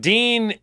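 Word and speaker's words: Deen: program it's called the Dean show but it's spelled de en it's not that you know the host isn't named Dean DEA n like Dean Martin so why is it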